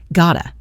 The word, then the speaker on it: gotta: Just like going to becomes gonna, got to is very often reduced to gotta. Gotta in fast spoken English. I've got to becomes I gotta.